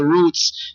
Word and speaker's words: Rootz: it's the way it's spelled and then the roots part is spelled t z z so I'm just